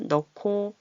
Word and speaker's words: 넣고: 넣고 히읗은 어떤 소리를 만나도 이렇게 좀 시끄럽게 격음화 넣고 이렇게 거센 소리로 나요.